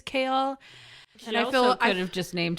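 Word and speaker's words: Chaol: his name is Captain kale Westfall but his name is spelled c h a o l um but in the audio book again it's pronounced Kale like the leafy green yeah it looks more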